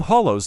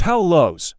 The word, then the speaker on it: Hallows: get so irrationally angry when someone calls them hollows like something that is hollow it's pronounced hao lows like the name hal and lo using there for they're